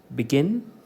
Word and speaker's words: begin: Okay, it is below, become, begin, believe, beside. Give primary stress to the second syllable.